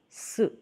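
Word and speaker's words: ス: Katakana su, pronounced as su, su, su.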